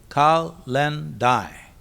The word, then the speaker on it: kalendae: The word calendar itself comes from kalendae, pronounced kal-len-dai, which was the day when debts were due, the day citizens had to pay taxes to the Roman state.